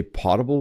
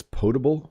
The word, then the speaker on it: potable: You need drinking water, or I call it, I think I say potable water, but someone told me it's potable water. So don't learn your pronunciation from me for that one.